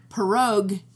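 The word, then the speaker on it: pieróg: the end no i.e so it's like perogue if you want one and it's pierogi for more than one in polish what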